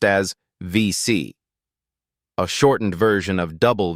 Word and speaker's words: WC: and is pronounced as VC, a shortened version of double VC, reflecting the French pronunciation of the letter W.